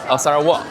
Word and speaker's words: Sarawak: Pourriez-vous me dire comment on prononce Sarawak ? Sarah Wah, merci beaucoup !